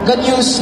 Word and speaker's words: GNU: Pero yung GNU na i-define natin is a recursive acronym for GNU's not Unix. So, ang pronunciation niya ay GNU.